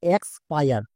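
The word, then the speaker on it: expire: কারণ হচ্ছে EX এর জন্য এক্স করবে নাকি ইক্স করবে, এটাই অনেকে বুঝতে পারছো না। মনে রাখবা EX এর জন্য সবসময় আমরা এক্স করি।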